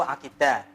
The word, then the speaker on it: akidah: berasal dari bahasa Arab membacanya aqada ya'qidu aqidah coba didirikan anak-anak a reda yang itu aqidah oke benar artinya ikatan